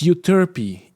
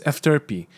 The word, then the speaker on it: Euterpe: It's Euterpe. Euterpe. If you want to pronounce it, Euterpe. Yeah, Jared was right this time. But also it's Efterpe. Efterpe, if you're Greek.